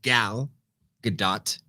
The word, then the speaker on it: Gal Gadot: we loved about the first one her specifically gal gadot is that how you pronounce it it is how you pronounce it